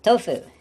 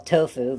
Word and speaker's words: tofu: Tofu, which in English we call tofu, but in Japanese they say more like tofu. Tofu. Ah, that's, Tofu. yes, she's much better at pronouncing it than me. Tofu, because it's got the u in it.